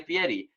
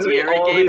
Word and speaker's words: Fieri: You look like Guy Fieri."